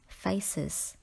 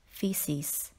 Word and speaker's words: feces: Do not pronounce this word as faces, although you can see the word face in feces.